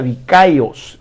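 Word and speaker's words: δίκαιος: el Nuevo Testamento que se pronuncia dikaios dicos con una K Y eso significa ser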